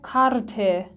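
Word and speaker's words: Karte: بعدی اگه پایان، اگه ای پایان هر لغتی بیاد به صورت واضح تلفظ میشه، مثل کارته. ایو کامل شما میشنوید، کارته به معنای بلیت.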